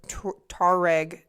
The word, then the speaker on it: Tuareg: He stumbled into a group of Tuareg herders. You didn't say it like that. It sounded like you said tourists.